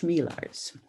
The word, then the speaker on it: Chmielarz: with my last name it's pronounced shmeelars but i've heard everything